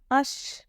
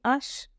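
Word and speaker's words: hache: French में क्या बोलेंगे अश अश वाइ because year H will silent as I told यूलियर in French H will be silent तो इट विल बी आश अथड़े को सॉरी सॉरी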